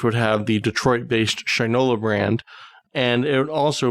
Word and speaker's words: Shinola: make sure I get that right it is Shinola is that correct that's that's how they pronounce it with my props to them for